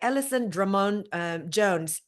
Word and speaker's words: Alison Drummond Jones: I am the relationship coach and chief relaxation officer of Kayangan, and I am here accompanied by Alison Drummond Jones. Am I pronouncing your name Yes, that's correctly?